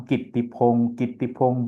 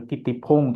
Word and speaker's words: Kittipong: लेकिन कित्ती पाली में कित्ती हो गया, बन गया, मतलब बदल गया थोड़ा।